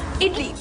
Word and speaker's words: idli: perfect snack spelt as idli and it is pronounced as idli idlis are made from rice and lentils i